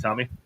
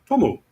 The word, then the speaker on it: Tomu: Great, Tommy. Thank you. Appreciate it. Oh, I want the lilac. The lilac dust. Yes. To pronounce my name instead of saying Tom, it's Tomu.